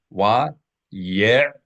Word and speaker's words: Wa ye'tar: Wa ye'tar. Wa ye'tar. Wa ye'tar. Three syllables. Ayin is not silent.